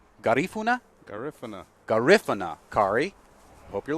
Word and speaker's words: Garifuna: Garifuna. Garif, like the word if. Yes, okay, correct. that's a question. Garifuna. Emphasis on the second syllable.